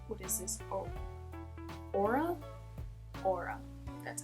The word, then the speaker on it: Aura: Aura.